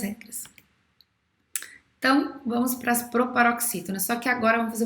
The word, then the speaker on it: proparoxítona: Todas as proparoxítonas são acentuadas. Todas as proparoxítonas são acentuadas. A palavra proparoxítona é uma proparoxítona, ó. Proparoxítona. A antepenúltima sílaba é a mais forte.